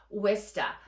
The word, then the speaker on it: Worcester: And yes, it is pronounced Worcester, not how it is spelled.